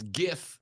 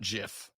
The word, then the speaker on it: GIF: They're memes, and it's GIF, not GIF. All right, it's a hard G.